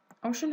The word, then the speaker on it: ocean: Ocean has two syllables, one O and then shun, the other syllable, and then it's noun as part of speech.